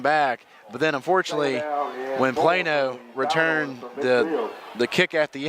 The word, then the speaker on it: Plano: Plano. Oh, I'm not from Texas. That was the one it's spelled it's Plano, not Piano. It's a Plano, right? Like Plano, Texas.